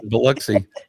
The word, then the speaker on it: Biloxi: I have never been, but I almost dated a girl from Biloxi, Mississippi once. Ooh. Nice. And I know you're telling the truth because you know how to pronounce Biloxi. Yep, Biloxi.